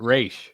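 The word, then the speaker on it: Ra's: me talia's Dad yeah it says Dennis O'Neill created Roz and he pronounces it race oh we're starting fuel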